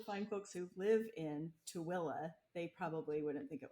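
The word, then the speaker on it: Tooele: just west of Salt Lake and it's it's pronounced tuilla to like to TOA yeah um I guess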